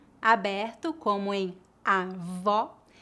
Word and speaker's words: avó: old percebe a diferença agora vamos praticar as palavras avó com o aberto e avô com o o fechado repita depois de mim